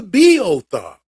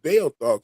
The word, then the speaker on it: Beothuk: he goes, Well, "Oh, you mean the BO thought?" And oh, I was like, yeah. And I was like, yeah, that's it. He was like, oh, well, you pronounced it Bale thought, so I didn't know